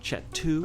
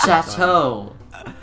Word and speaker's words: Chateau: I pronounce this right, Chet2. Oh my god. Chanterelle. Oh my god, I see. Oh, Chet2. oh my god, stop. Stop. You pronounce it, Chateau. The word is Chateau.